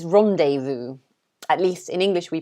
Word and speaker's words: rendezvous: someone um but we we pronounce it rendezvous i think it's quite similar to how they pronounce it in french um i guess they say it with a more french accent but we say rendezvous rendezvous like that so yeah